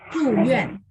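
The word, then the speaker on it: 住院: Zhuyuan. Zhuyuan. Dua-duanya ditekan ya Ibu ya.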